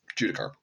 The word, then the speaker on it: Judicar: for the Warhammer 40K joy toy uh judicar judicar I pronounced that wrong at the first part of